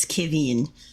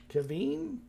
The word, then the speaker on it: Kiveen: The translation from Infernal is Kiveen. Kevin? Kiveen. Kevin. Very important for the infliction. Kevin. Otherwise, it becomes a very bad word.